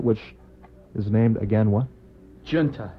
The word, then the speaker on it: Junta: Junta. Junta. Not Junta. No. But Junta, the American pronunciation of that one.